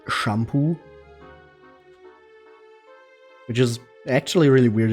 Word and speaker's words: Shampoo: German and then the the second half is just pronounced the same way as it is in English come